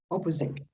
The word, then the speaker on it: opposite: uh opposite no opposite in english most words especially the ones that are not long too long are the stress on the first syllable the first one on the left opposite okay traffic is not